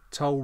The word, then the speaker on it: Tull: play will follow suit remember toll rhymes with dull now that was written on the 19th of december 1974.